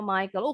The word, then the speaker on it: Michael: Bacanya Michael.